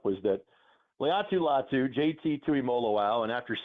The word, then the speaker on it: Tuimoloau: JT Tuimoloau, 5 syllables.